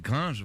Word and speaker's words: Gringe: tapez Orelsan gringe gringe on dit gringe ou gringe par c'est gringe la française tuas envie de